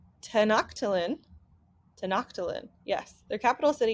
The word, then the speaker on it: Tenochtitlan: It tells you in this chapter that their capital city is, I'm going to pronounce it wrong, Tenochtitlan.